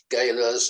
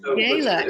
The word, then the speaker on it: gala: know polly of the galas and all the rest of it it was all great fun you said gayla and you you used to tell us that it was properly pronounced gala and i'm the third